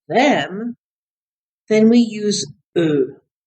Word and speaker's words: eux: But if you want to say it's them, then we use eux. And it's spelled E-U-X. Eux. Repeat, eux. I know it sounds like just the letter E.